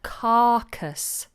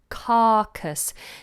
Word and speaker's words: carcass: referred to as a carcass carcass now I don't pronounce this R and I don't really